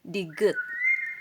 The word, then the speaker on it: 디귿: Ang tawag nito is digut. Digut. Ito naman R o di kaya L sound. Ang name nito or pagbigkas is riul.